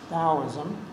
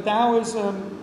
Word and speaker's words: Taoism: taoism so it's pronoun it's spelled with a t and pronounced with a d taoism however i looked it